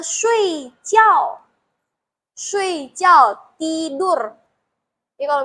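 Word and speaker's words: 睡觉: Bacanya shui jiao.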